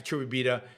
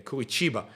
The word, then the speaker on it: Curitiba: And I do want to come to back to Curitiba. I'm mispronouncing it again, Curitiba.